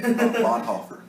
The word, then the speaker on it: Bonhoeffer: I pronounce his name like a person from the southern United States. Bonhoeffer. It's Bonhoeffer.